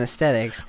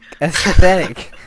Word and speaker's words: aesthetic: But back then, and we're talking about aesthetics, so we should probably stay on aesthetics. Why is it so hard for you to say aesthetic? Athetic.